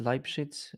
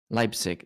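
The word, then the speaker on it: Leipzig: Is is it Lip Lipshit? Lipshits. I can't say it properly. Lipick. Lipick. That's it.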